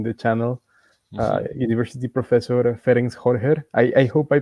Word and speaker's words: Ferenc Hörcher: University Professor Ferenc Hörcher. I hope I pronounced that right.